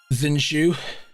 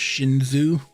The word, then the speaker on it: Zinshu: I know some of you are gonna come at me and say, well, Zinshu isn't how you'd actually pronounce that. It's supposed to be like, I think it's Shinzu, something like that, and this is my